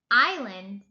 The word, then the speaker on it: island: Island, island. The S is silent.